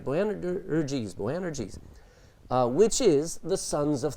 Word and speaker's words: Boanerges: Boanerges, which is the sons of thunder.